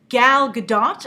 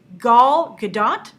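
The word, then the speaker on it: Gal Gadot: casting of gal GDOT I'm making sure I try and pronounce it right a lot of you yesterday were like that's the French uh pronunciation of her name not the Israeli so I heard it was Gul gdat uh she's playing Wonder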